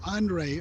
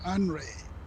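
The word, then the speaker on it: Henri: The previous hurricane a couple of days ago was called Andre, or it's spelled like Henry with an I at the end. They call it Andre.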